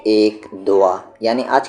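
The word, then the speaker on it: دعا: इसे आप क्या कहेंगे दोआ और एक और स्पेलिंग है दाल वाव अलिफ इसे हम क्या पढ़ते हैं दवा और यह है दुआ ठीक है तो वा नहीं कहना है दुआ कहना है आईन दुआ और इसे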